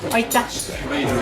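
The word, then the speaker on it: aitäh: Oita.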